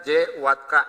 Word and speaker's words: J_WATT_K: lihat ada konektor namanya J Watt K ya. Jadi ini cara bacanya jangan Juat ya Pak ya. Jangan ya Pak Ciko ya, tapi J_Watt_K.